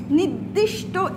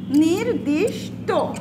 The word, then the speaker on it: নির্দিষ্ট: ছয় নাম্বার নিয়ম হচ্ছে, যদি কোনো বানানের উপর রেফ থাকে তাহলে সেটা দ্বিত্ব উচ্চারণ হবে না।